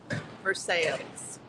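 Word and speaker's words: Versailles: a town called versailes French but don't ever use the French pronunciation or you'll get lots and lots of laughs and funny looks so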